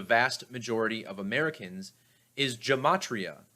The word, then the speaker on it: gematria: majority of americans is gematria often pronounced gamatria or gamatria which is the very